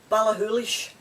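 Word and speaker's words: Ballachulish: now um this is one i really like balahoolish and it's an open highlands and it's b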